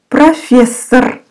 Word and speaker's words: профессор: Профессор, профессор, профессор, профессор. Both O are pronounced like A.